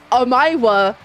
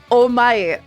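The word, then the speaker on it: お前: That's That's the point cuz the first word isn't am I. It's oh my. Kind of like you would spell it O M A E.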